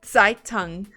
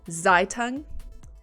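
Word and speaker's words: Zeitung: so if I said saitung is that better than zaitung Zed is pronounced most of the time like TS example the TS from what's okay so saitung is more correct foreign Lisa I I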